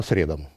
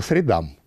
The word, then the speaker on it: средам: приказу согласно вашему распоряжению или ударением так ставится вас занятия проходят по средам по средам среды такие физические и